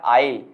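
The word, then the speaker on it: I'll: ये बन गया, इसका प्रोनाउंसिएशन बन गया आइल। क्या बन गया दोस्तों? आइल। तो आप यही बोलेंगे, स्पीकिंग में आप यही यूज करेंगे आई विल नहीं, आपको ये यूज नहीं करना आई विल।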